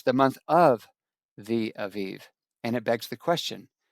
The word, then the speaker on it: aviv: Now, in your King James version, Michael says it'll say the month of the aib instead of the v sound. It's the b sound. I don't care how you pronounce it.